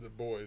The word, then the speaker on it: Du Bois: Du Bois? Du Bois, yeah. Du Bois. He pronounced it Du Bois because he was trying to divorce it from the French.